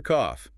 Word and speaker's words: cough: That G-F combination sounds like an F, so it ends on a hard, breathy F.